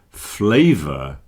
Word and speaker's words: flavor: Flavor and favor. Notice the pronunciation of the letter A here. Flavor, favor. Not flavor, favor, but flavor and favor.